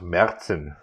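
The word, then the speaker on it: Märzen: that's a good one i believe in german it would be pronounced merzen but mars and whatever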